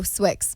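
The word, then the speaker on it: Swixxz: clothing company name oh Swick's Swick's yeah okay got it thanks I just didn't know if like the exes were silent if the Z was pronounced no literally no one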